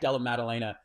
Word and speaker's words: Della Maddalena: I like how you corrected the pronunciation by pronouncing it incorrectly again um just kidding it's Jack Jack Del Melena um just call him JDM um dude this